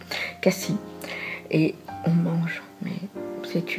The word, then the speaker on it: Cassis: qui se trouve à cassis pardon peut pas dire ça vous dire qu'à si on prononce pas le s à cassis et on mange mais